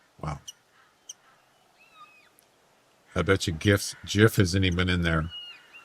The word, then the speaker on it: GIF: GIF isn't in there. Just the one that we're talking about isn't in there. Funny. at least have one. What a hard G is correct.